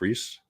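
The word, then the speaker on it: Rhys: John Rice Davis. Reese.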